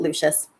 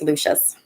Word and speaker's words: Lucius: Lou Lucius Malfoy son or is it Lucius you guys know that I'm not great at pronouncing all the Harry Potter names Lucia I think it's Lucius must be it's not a very